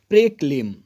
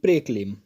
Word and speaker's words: proclaim: बढ़ते हैं अगले वो कैब की तरफ और अगला वो कैब है प्रेक्लेम। PROCLAIM। It's written प्रोक्लेम but pronounce properly प्रेक्लेम।